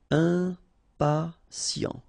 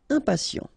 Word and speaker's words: impatient: Okay, remember, final T not pronounced, and then you've got this T, I, and a vowel, so sien. Sien. Impatient. Impatient.